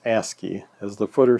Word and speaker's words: ASCII: to the asky keyboard ASCII is pronounced asky as the footer says